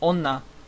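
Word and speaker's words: 女: is the symbol that means woman it is pronounced Ona um this is C and hiragana this is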